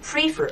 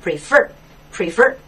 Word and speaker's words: prefer: 不要读成 prefer，错了，它的重音在后面，读成 prefer。